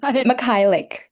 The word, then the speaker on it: Michalek: Um Michalek. Michalek. That's just like it's just like it's spelled.